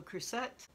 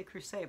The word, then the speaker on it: Crucet: Education by Jennine Capo Crucet, which I always want to say Crucet, but I've watched multiple videos and you seem to pronounce the T, so.